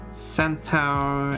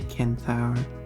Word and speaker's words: centaur: No, it's C before I, so it's an S sound. And that's why it is. That's why some people say centaur and some say kentaur.